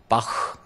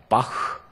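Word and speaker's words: Bach: 그래요 최하 발음이 최하 발음이 모음 앞에서는 흐 발음 그래서 B 바 바하를 우리는 바하 그러잖아요 그 일본 애들이 이상하게 만들어 놓은 거야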